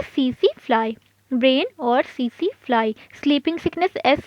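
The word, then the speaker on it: tsetse: Brain और सीसी fly, sleeping sickness S से और एस से सीसी फ्लाई, लेकिन इसको प्रोनाउंस करते हैं एस से और लिखते हैं टी से। तो ये कुछ प्रोटोजोअन डिजीज़ेज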